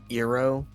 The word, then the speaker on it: Iroh: Oh, I was apparently getting a dissatisfied look for mispronouncing his name. I assume it's Iroh.